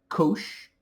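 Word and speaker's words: cosh: It's often abbreviated as kosh coh stands for hyperbolic.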